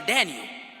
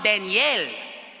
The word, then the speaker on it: Daniel: have to say brother Daniel but if you say my name in Spanish you have to say hermano Danielle I just didn't know